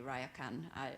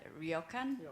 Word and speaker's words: ryokan: uh i don't i can't say it properly raya khan ryokan is ryokan um as to you said that